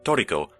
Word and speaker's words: Trico: a more related note, the Japanese pronunciation, Toriko, roughly translates to prisoner or captivity in English, and is also a